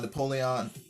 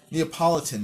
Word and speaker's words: Neapolitan: just how male uh Napoleon I keep on pronouncing this wrong uh Neapolitan Mastiffs are they won't tolerate